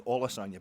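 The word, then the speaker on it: Olusanya: don't want to insult the guy's name, it's Olasanya, but just to the ear, it sounds phonetically, it's quite the coincidence.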